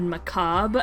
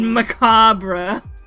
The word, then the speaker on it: macabre: the embarrassment i felt the first time i said macabre out loud um and i pronounced the re oh it's okay i said macabre um in like the